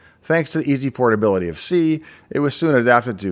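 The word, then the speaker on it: SEA: enhancement associates or sca usually pronounced by c but i'm going to say s-e-a because i like it better arc was a program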